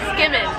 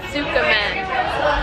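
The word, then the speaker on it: tsukemen: It's pronounced skimmin, not sukkamen.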